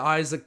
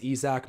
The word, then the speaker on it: Isaac: outlet pass there to isaac bonga who is fouled i think his name is actually pronounced izak my bad there but he'll be